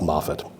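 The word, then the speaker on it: Mowat: It's spelled M W A T sometimes at TT, but apparently it's pronounced Moffett.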